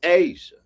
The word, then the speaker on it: Aja: My friend Aja, her name is spelled like Aja, but her name is Asia.